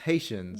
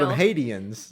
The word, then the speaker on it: Haitians: is a really funny part because when she mispronounced Haitians yes that she called Ians yeah that was real and she and yeah